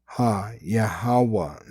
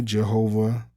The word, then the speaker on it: Yahawah: They give you a wrong pronunciation, right? When they say Jehovah or uh any other false name. All right. But the true name is Yahawah.